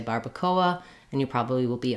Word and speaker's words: barbacoa: just point out that in English we tend to say Barbacoa and the Spanish pronunciation is different so you would have